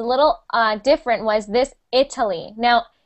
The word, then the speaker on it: Italy: Italy. Now, we actually pronounce it like an I. I know many languages pronounce it like e, but we pronounce it like Italy.